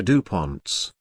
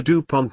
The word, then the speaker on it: Dupont: The correct variations in spelling the Dupont name are as follows. Dubont, Dubont, Dubont, Dubont, Dubant, and Dubont DMS. In English, the second syllable is accented.